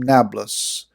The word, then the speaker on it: Nablus: napoles in italy but they don't pronounce the p but rather use the letter b and so napolis became nablus interesting i suppose but